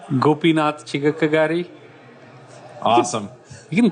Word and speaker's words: Gopinath Chigakkagari: different but how do you say your name gopinatha chika kagari awesome you can call it Gopi Gopi alright